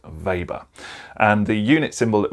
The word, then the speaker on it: weber: vapor now it's pronounced weber but it's spelt with a w because i think that the gentleman that this named for was german so his name is pronounced weber and the unit symbol